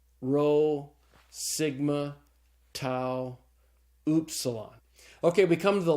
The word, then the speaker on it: tau: the next letter is tau and tau looks just like the English tea and it's pronounced like the English tea so the Tau is pronounced like the T in the word talk okay after the tau